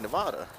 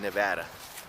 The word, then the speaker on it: Nevada: instead of Nevada I say Nevada cause of like Nirvana but I just say no but never Nevada you know like Nevada like not a whole lotta but I'm pretty sure it's most people pronounced in Nevada John Cooper no okay